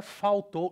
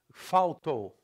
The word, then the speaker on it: faltou: In Brazilian, a menina faltou. Look at the L. The L becomes U, it's a W in IPA, faltou. In Portugal, faltou, okay?